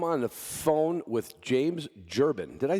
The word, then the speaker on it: Jubran: dog podcast i'm on the phone with james gerbin did i say it right james jabron close enough yeah well look at my last